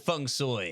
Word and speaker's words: feng shui: I'm just going with feng soi because I think that's like the authentic Cantonese pronunciation.